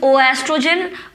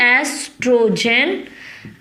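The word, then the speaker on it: oestrogen: वो 2 हार्मोन्स हैं एस्ट्रोजन, don't call it इज ओ एस्ट्रोजन, ओ है वो साइलेंट होता है तो इट is simply एस्ट्रोजन and progesterone, ठीक है, एस्ट्रोजन एंड प्रोजेस्टेरॉन्स, ONES।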